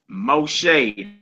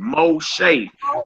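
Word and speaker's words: משה: Moshe. Now, who is that? Who what famous person is that in the Bible? Moses. That's Moses. That's how you pronounce Moses name. Moshe. But you but you see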